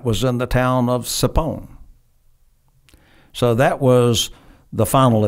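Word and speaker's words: Tchepone: And the headwaters of that was in the town of Sapon. So that was the final objective, mm-hmm. was to capture Sapon. It's spelled T-C-E-P-O-N-E. Right. It's got a weird spelling.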